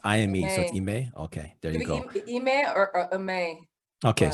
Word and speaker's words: Ime: mike d'antoni he has eme it's i ime but i've never heard it yeah so i don't know how to pronounce it it's i am okay there you go